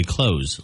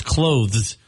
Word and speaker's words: clothes: e a lot of people just say closeth like what you do with a door close but it's clothes that's a tough one